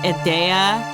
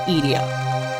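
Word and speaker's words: Edea: Also, I'm aware that some people pronounce it Idea or Idea or whatever. I pronounce it Idia.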